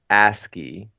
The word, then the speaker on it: ASCII: nice nice little synopsis pronounced ASCII which it's a capital a SC capital III is an acronym for